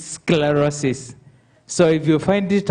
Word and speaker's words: sclerosis: Uh that is the name which the MC was unable to pronounce. It's sclerosis.